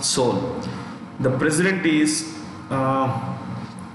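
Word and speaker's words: Seoul: what is it so the east side it's pronounced soul the president is uh okay from there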